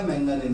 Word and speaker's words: manganin: Wire का जो material है वो होता है आपका कांस्टेंट, या तो कांस्टेंट का हो गया, मैंगानीन का हो गया, अलॉय है हाँ, ये कांस्टेंट है क्या?